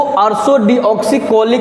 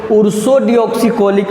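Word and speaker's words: ursodeoxycholic: इसको अर्सोडिऑक्सीकोलिक एसिड कहते हैं, UDCA। कभी कभी कोई इसको उर्सोडिऑक्सीकोलिक भी बोलते हैं, सबका अपना प्रोनाउंसिएशन है।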